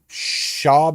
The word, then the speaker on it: Schaub: this guy named brendan how do you say his last name job shobb is that how you say pronounce it yeah okay so brendan